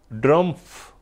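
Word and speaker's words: Drumpf: ड्रमफ यानी ट्र टी से नहीं डी से अब उसको जैसे भी आप प्रोनाउंस करना चाहे लेकिन ड्रमफ सही। ठीक है ना? यानी डी आर यू एम पी एफ सही।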